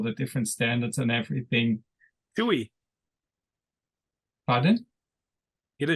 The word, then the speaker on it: Shoei: Shoei. Pardon? Get a shoei.